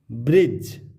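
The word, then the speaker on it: bridge: ब्रिज, डी के बाद जी ई, ब्रिज।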